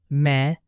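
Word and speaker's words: मैं: Maine me sounds a bit like mine without the final clear N.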